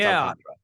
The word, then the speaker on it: Alcantara: Yeah, it's Alcantara. Yep. And he's got 3 syllables there. So you get that first one right.